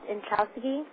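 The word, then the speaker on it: Inchaustegui: spell it for us it's pronounced in chowsky i-n-c-h-a-u-s-t-e-g-e-bye it's back from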